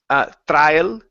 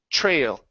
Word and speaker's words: trail: So instead of trail, pronouncing an aisle, it's a trail. Trail. Trail. Trail. Yeah. So the tr is going to switch to a chr sound.